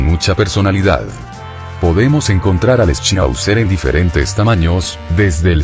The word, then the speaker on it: Schnauzer: Schnauzer, pronunciado en alemán, Schnauzer, es una raza canina que se originó en Alemania durante los siglos XV y XVI.